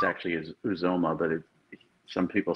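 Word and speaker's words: Uzomah: from uh from kansas state it's actually is uzoma but some people say it was omar um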